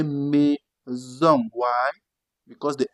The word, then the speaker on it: maison: When it's between vowels, you pronounce it Z. But usually it is S. But if it's between vowels, you pronounce it Z. Let's take some example. You have soleil. You're having a consonant and a vowel. And then you have to pronounce it S. Soleil. That is sun in English. Soleil. That is sun. Now see this one, they say maison. You don't say maison. No. You say maison.